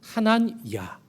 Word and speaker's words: 하난야: 아나니아는 헬라식 이름이고요, 히브리식으로 발음하면 하난야, 하나냐라는 이름, 여러분 구약에서 많이 들어보셨을 겁니다.